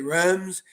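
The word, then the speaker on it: Reims: different ways to pronounce Rems we in the United States say runs but it's not as Raw it's like they don't even pronounce the S we learn so much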